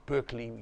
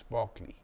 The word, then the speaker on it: Berkeley: by the name of George Barkley b e r k l e y you will pronounce him Berkeley you are wrong it's Barkley George Barkley wrote an essay